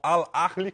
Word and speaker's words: Al Ahly: reais na época, ao Al Ahly, como é que pronuncia isso daí, Pedro? Ao Ahly. Al Ahly mesmo, dos Emirados Árabes. Tem que arranhar o H.